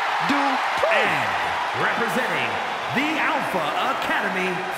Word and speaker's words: Dupri: Michael, it's pronounced Dupri. And representing the Alpha Academy from Phoenix, Arizona, Maxine Dupri.